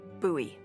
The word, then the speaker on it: Bowie: knife it's actually pronounced buoy what buy no it's like the last name like David Bowie oh my gosh buoy are you just messing with me no that's how it's pronounced buoy knife okay well knife